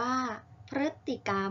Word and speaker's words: พฤติกรรม: อย่าง คำ กัน ค่ะ พฤ จิ กรรม อ่าน ว่า พฤติกรรม กฎ หมาย ถึง กิริยา